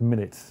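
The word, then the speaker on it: MinIT: introduce a new product this is minute pronounced minute mi nu te so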